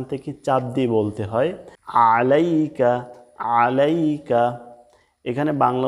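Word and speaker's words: عَلَيْكَ: টান আছে আসসালাম মিম পেশ মু আসসালামু বাংলা উচ্চারণ দেখুন আসসালামু অর্থ শান্তি এরপর দেখুন আলাইকা এখানে আইন দিয়া আইন কিন্তু গলার মাঝখান থেকে চাপ দিয়ে বলতে হয়। আলাইকা আলাইকা এখানে বাংলা উচ্চারণে আছে আলাইকা।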